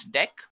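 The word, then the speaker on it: deque: it is written as DQ but we can pronounce this as deck not talking about deck what actually it is used for so deck pronounced as deck is an optimized list to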